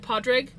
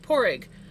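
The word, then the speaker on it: Pádraig: Some people pronounce it Podrig, but he pronounced it Porrig.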